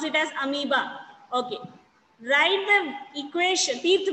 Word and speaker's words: amoeba: We pronounce it as amoeba.